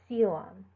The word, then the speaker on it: coelom: When you see an AE or an OE, you usually only pronounce the second letter. So bursae or coelom.